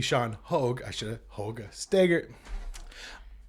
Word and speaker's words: Hoogesteger: But he was like, oh, yeah, that's Dutch. That's how you pronounce it.